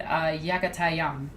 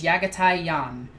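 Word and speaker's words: Jaghatai: And yes, that is the correct way to say his name. Don't try to argue with me. I don't care what the audiobooks say. He is Mongolian. His name is Yagatai-Yan.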